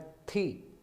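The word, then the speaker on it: 题: जब इसके साथ टी आई, यानी टी की प्रोनाउंसिएशन है थी, तो लेकिन इस पर सेकंड टोन है तो हम इसको ऊंचा पढ़ेंगे, थी।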